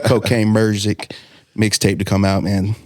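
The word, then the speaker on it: Cocaine Muzik: I could not wait for the next Cocaine Music Merzik. Let me say it right. Cocaine Merzik mixtape to come out, man.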